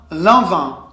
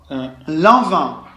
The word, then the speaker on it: Lanvin: N is not pronounced. No, because IN is also un. Un. Lanvin. Lanvin.